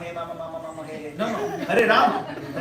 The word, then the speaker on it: Hare Rama: No, Hare Rama. Pronounce clearly.